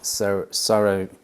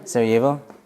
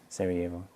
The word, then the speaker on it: Sarajevo: about the cellist of sir sorrow how do you say that Sarajevo but that Jane throws me off Sarajevo have you heard of